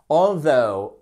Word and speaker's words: although: Although, accentuation sur la seconde syllabe, tout attaché, O-U-G-H.